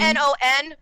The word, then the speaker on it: non: The French word for no is no? No. Well, technically non, which is... Well, it's spelled N-O-N, non, but you don't say the last word. You say non.